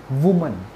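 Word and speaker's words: woman: क्या बोलते हैं इसको वुमन और अगर एम ई एन आ जाए तो वमन सो ये प्रोनंसिएशन आप ध्यान रखना आप लोग इसको गलत तरीके से आई थिंक प्रोनाउंस करते हो आपको इसको क्या बोलना है वुमन और ई लगेगा तो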